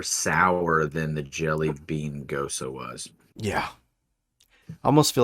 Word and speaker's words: Gose: Also, just really, it really does irk me that it's pronounced Gosa.